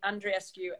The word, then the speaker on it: Andreescu: yeah and rescue yeah and rescue sounds like she's rescuing somebody and and then it's